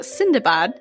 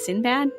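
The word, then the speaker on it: Sindbad: translated a story about sindabad whom westerners would also know as sinbad but apparently that's not the way you actually say his name in which he and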